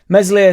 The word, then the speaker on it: Meslier: Meslier Silent S left one in on there, I think it was their striker, he absolutely annihilated him.